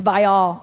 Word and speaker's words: Viall: I oh it is it's viall yeah it's terrible i've saying it wrong this whole time it's um it's one of the worst last names it should just be vile I thought it was